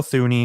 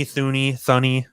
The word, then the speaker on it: Thuney: So they decided to go out and spend big on Joe Thuney, who they gave a 5-year, $80 million contract to.